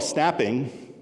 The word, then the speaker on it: snapping: challenge number one is what we call snapping rhymes with mapping same thing snapping your your GPS